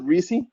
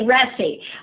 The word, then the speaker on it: Ressi: Is it Reese? It's actually Ressi, but I love MRM, Tony.